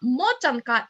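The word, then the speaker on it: мотанка: Motanka is how you say in Ukrainian this knotted doll.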